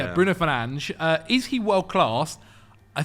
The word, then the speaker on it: Fernandes: It's pronounced Fernandes. Confirmed. Very nice Portuguese pronunciation.